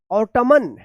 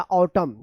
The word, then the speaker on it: autumn: तो क्या पढ़ेंगे इसका, ऑटमन या ऑटमन या ऑटम, क्या है इसका सही उच्चारण होगा ऑटम, क्या होगा ऑटम। तो यहां पे देखिए आप, यहां पे एन साइलेंट है, क्यों, इसका रूल है